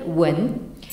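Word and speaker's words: 文: une calligraphie archaïsante et qui se prononce en chinois actuel wen alors vous avez ici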